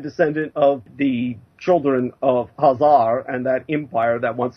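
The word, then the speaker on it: Khazar: turkey EX and descendant of the children of hazar and that Empire that once surrounded the Caspian uh by the way that's spelled k ha a z a r for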